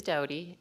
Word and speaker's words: Dodie: the record for me it is doughty uh we do answer to dowdy as well though and a lot